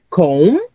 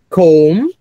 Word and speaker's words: comb: differently so we say comb with the silent B comb then you say tomb